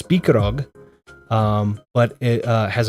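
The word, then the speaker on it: Spikeroog: It looks like it would be pronounced spike rugg. It's speakerog.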